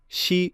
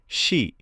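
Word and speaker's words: し: আজ আমরা শিখব জাপানি ভাষার সা সিরিজ। প্রথম অক্ষর সা উচ্চারণ সা। সবাই বলুন সা সা সা। দ্বিতীয় অক্ষর শি উচ্চারণ শি। মনে রাখবেন এটি সি নয়, শি।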